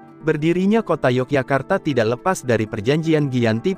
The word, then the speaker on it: Yogyakarta: Dalam penggunaannya sehari-hari, Yogyakarta lazim diucapkan Jogjakarta atau Ngayogyakarta. Berdirinya kota Yogyakarta tidak lepas dari perjanjian